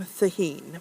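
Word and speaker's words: Cehegín: There's Calaspara de Cruz, or de la Cruz, sorry, Thaheen, which is spelled C-E-H-E-G-I-N, so it's totally confusing, and Calaspara.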